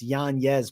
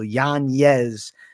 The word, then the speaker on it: Yanez: Yes, it's Yanez, Mike Finch. He's flipping it back to the traditional pronunciation. He's not letting the name be Americanized. So Yanez with a Y, but for us, it's, you know, Yanez in English.